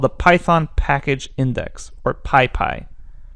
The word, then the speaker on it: PyPI: python package index or pi pi and that's spelled pypi and basically that's going